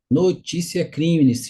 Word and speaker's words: Notitia Criminis: na apresentação no slide notite é uma palavra em latim Então se escreve se escreve dessa forma mas se pronuncia notícia crimes a notícia é crimes